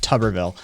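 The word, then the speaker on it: Tuberville: to mid 2000s and it's technically pronounced tubberville thank you facts i'm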